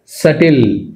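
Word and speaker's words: subtle: సటిల్, ఇది మనం సబ్టిల్ అనకూడదు ఇక్కడ. సో ఎం లేదు అయినా కూడా మనం గుర్తుంచుకోవాల్సిన అంశం ఏంటంటే దీని ప్రొనౌన్సియేషన్ అనేది, అంటే ఇందులో బి అనేది సైలెంట్. సో బిని మనం ప్రొనౌన్స్ చేయకూడదు, సటిల్ అనాలి అంతే, సటిల్.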